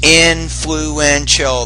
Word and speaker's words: influential: use that adjective there there's influential there's four syllables to that word vision is the most